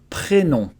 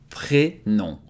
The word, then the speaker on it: prénom: So first name is prénom. Prénom. Prénom. Mon prénom, my first name. Pré is just like in English when you say pre-something, pre-recording, pre-party, it comes before.